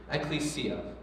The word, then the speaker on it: ecclesia: Ecclesia. There's a few different ways to pronounce it. We're just going to say ecclesia, all right?